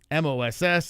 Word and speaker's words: MOS: It's Moss. M-O-S. That's Moss. It's not Randy Moss.